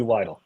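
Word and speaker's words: Weidl: You're You're mispronouncing Andy Widle. Try again. Say it with me. Andy Widle.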